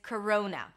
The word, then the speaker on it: Corona: So the name of the virus and the beer is Corona. We start with a k sound, then it's a schwa, k, ro, o as in go, coro, and then n, corona.